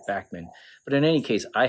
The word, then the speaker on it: Bachman: Randy Bachman, or Bachman, I'm not sure how to pronounce it. I know like Bachman Turner Overdrive is the way people say that, but I saw an interview that said that he actually pronounced it Bachman.